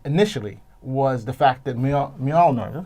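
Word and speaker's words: Mjölnir: was the fact that Mjolnir, is that how you pronounce it? Mjolnir. The MJ, the MJ hammer. It's a Y sound.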